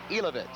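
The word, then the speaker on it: Jilovec: box today, Bob, and he has told us that it's pronounced Elovitz. J-I-L-O-V-E-C, but it's Elovitz.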